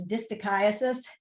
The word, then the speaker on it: distichiasis: They're the, so you know how to pronounce this word, it's distichiasis.